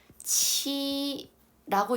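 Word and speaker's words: 七: 그리고 7, 치라고 읽는데 성치 할 때 치.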